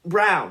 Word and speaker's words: Braun: pick for Braun who brown right Brown he pronounces it brown the little white kid